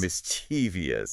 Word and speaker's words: mischievous: Mischievous is another one that kind of feels like it should have that extra syllable. It does. Like I want to say mischievous. Mischievous. That's what a lot of people say. Like it feels more playful. Yeah. But it's actually simpler than that. Yeah. Just mischievous. Mischievous.